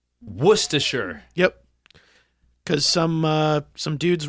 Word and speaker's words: Worcestershire: that supported him by stealing syllables from their place name uh-huh and so that is why instead of Worchester Shire is now pronounced Worcestershire Worcestershire yep because some some